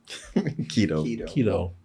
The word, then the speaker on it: keto: Keto.